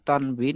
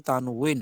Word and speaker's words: তানউইন: সাকিন অথবা তানউইন দেখছেন আরবি উচ্চারণ কিন্তু তানভীন না আরবি উচ্চারণটা কিন্তু তানউইন আমরা অনেকে যে বলি তানভীন মূলত এটা হবে তানউইন